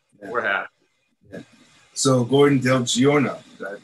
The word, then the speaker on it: Del Giorno: we did okay we're happy yeah so gordon del giorno did i pronounce that correctly yeah del jordan awesome so you're a filmmaker and uh previously